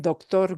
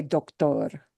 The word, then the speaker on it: doctor: Instead of doctor, it's doctor. Doctor. Yeah, spelled the same, but a different pronunciation.